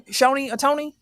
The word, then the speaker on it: Shohei Ohtani: How do you pronounce his name? Shohei Ohtani.